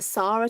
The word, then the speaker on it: Sarah: yeah i'm gonna stop i am a sarah to rhyme with far rather than fair but i answered you both oh lovely you are sarah yeah yeah i knew